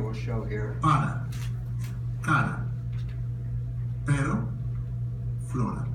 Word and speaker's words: pero: There is no R sound in Spanish like our sound. So within a word, again, let's pronounce this. Para. Para. Cara. Flora. And at the beginning of the word, it's also trilled as if it's a double R.